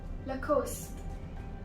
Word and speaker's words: Lacoste: Now, it's not Lacoste because of the E, so don't get confused with the E in the end, it is LaCoste.